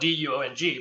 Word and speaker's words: Duong: I'm Duong. It's spelled D-U-O-N-G, but it's actually Duong.